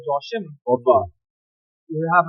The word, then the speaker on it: Joachim: It's originally from like German, Joachim. Right. But we speak English, so we say Joachim. So Joachim is the correct pronunciation. But growing up, we said Joachim.